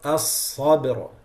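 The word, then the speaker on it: الصبر: So that's the word as-sabr, as-sabr, like this.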